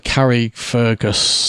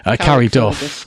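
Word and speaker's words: Carryduff: And he runs the Carrie Fergus, have I got that right? Carrie Duff. Carrie Duff. Because I mispronounced the other one.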